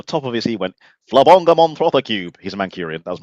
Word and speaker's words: Flabonga Monthrothacube: Oh, how do you pronounce the name of the show? Flabonga Monthrothacube.